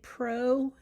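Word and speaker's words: prokaryote: Proarionic cells your procariots think pro no pro rhymes with no know what no true nucleus proarotic cells do not have a true nucleus.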